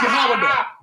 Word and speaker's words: Yehuda: I agreed that it's pronounced Yehuda.